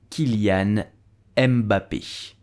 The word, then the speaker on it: Kylian Mbappé: of the is paid so how do you pronounce his name you will say kilian emba pisce kilian m you have an accent at the